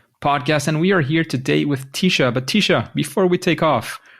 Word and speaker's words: Tisha: it was all great my name is pronounced tisha uh but i you know you can call me just about anything and i'll answer to it tisha is that better yeah